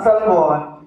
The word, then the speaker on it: salmon: English ano sa tagalog Salmon sa English silent L ang Salmon mga ipapanganak yan sa